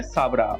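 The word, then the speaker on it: Sabra: है और वो है साबरा। अब उसको कैसे भी आप आप प्रोनाउंस कर सकते हैं साबरा, सेब्रा।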